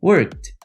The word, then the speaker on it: worked: work no passado repeat worked worked não sei se você percebeu mas eu não falei worked eu não falei work eu falei worked worked eu praticamente reduzi o Ed para som de t o Ed tem três